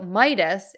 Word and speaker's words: Midas: touch of Midas so Midas is my dust Midas the Aegis I'm not